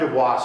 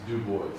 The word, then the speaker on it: Du Bois: because it's Du Bois. I Du Bois, yeah. But I say Dubois, because I like to sound French. But thank you. No, I'm from... He's actually pronouncing it correctly, we pronounce it wrong, that's right, yeah.